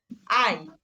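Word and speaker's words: Ei: আই, এই যে আই, আই মানে হচ্ছে ডিম, আর ইআই সোয়াই মানে আই হচ্ছে দুই। তাহলে আমরা দেখেন এই যে এ আর হচ্ছে ইটা একসাথে বসার পরে উচ্চারণটা কিন্তু আই হচ্ছে।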